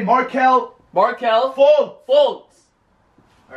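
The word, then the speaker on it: Fultz: after me marel marel fols fols no say fults fults now the Suns the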